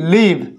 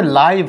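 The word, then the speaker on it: live: এই হচ্ছে জিনিস, এই একই বানান দেখো একই, কিন্তু উচ্চারণ লিভ, এটা লিভ করা আছে, এটা হচ্ছে লাইভ করা আছে, মানে কত কিছু আমাদেরকে জানতে হবে।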